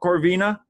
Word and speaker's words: Corvina: do you say your last name it's cor corvina yeah so uh so my actual last name is okay vina is actually my middle name so corvina corvina very good well thank you very much for